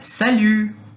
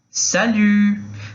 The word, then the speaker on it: salut: Em francês, esse cumprimento a gente pode falar salut, salut. Lembrando, que a pronúncia do U, da letra U no francês, ele é aquele famoso biquinho que todo mundo fala, É como se fosse a boca do U, tá?